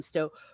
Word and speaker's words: Stowe: and I always feel very self-conscious when I'm pronouncing names, Scandinavian names, because I'm horrible at it. And Madeline Stowe, right? Stowe, thank you.